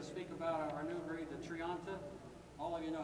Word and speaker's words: Thrianta: to pronounce that now I hope it's Triant and you are getting better at it I still hear this Tri and tri and all this other stuff once in a while but it is a Triant and if you're going